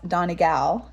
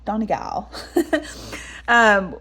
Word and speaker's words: Donegal: But the couple days in the Buren, and then when we went to I was calling it Donegal, but I learned it's actually pronounced Donegal. Donegal.